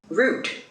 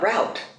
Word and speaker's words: route: Route, not route.